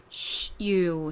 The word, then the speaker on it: shoe: SH의 쉬 라는 소리와 U라는 소리가 합쳐져서 슈, 슈, 슈, 슈, 슈, 슈, 슈라는 발음이 됩니다.